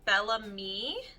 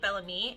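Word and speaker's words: Bellame: But this mascara is by Bellamy, I believe is how you say it. It's B-E-L-L-A-M-E, Bellamy, and it's a high definition mascara.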